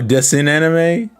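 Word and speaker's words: Dessin animé: Oh, Dessin anime? I think I'm pronouncing that right. Oh, that's right. Code Lyoko is French. Duh.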